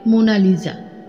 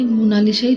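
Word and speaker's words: Mona Lisa: সাহেবরা এখন উচ্চারণ করে মোনালিজা। কিন্তু বাংলাতে মোনালিসাই চলে গেছে।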